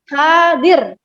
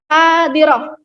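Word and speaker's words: حاضرة: Tidak bisa kita berucap hadir. Itu belum mencerminkan fasohah lughah Arabiyah atau kefasihan bahasa Arab. Lalu bagaimana Bu yang benar? Yang benar adalah hadirah.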